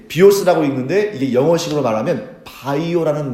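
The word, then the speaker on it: βίος: 자, 영어식으로 읽으면 뭐라고 읽냐면 그렇죠. 예, 비오스라고 읽는데 이게 영어식으로 말하면 바이오라는 말의 어원이 돼요.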